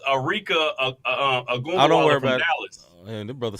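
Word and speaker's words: Arike Ogunbowale: And so Aneka Abumake. That is how you say it. No, not Abumake. Oh, okay. It's not the one on ESPN? No, it's Arika Agumbawala from Dallas.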